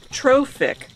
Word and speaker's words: trophic: it's really very simple pronounced trophic the term originated from the greek word for nourishment or nutrition ah yes this tells